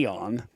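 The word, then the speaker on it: Aeon: way but it's actually we call it the Eon but the spelling looks like AON.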